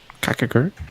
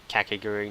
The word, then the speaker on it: Kakegurui: Kakagurt? I'll double check. Kakagurt. Oh wait, I do you just spell that? googled Kakegurui Oh.